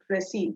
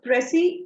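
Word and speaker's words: précis: It's called pressy. The S is silent. So, pressy is a summary in which you create a shorter version of the original passage.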